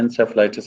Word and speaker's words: encephalitis: इसको encephalitis कुछ लोग पढ़ते हैं, कुछ encephalitis भी पढ़ते हैं, लेकिन इसकी जो main pronunciation है encephalitis है.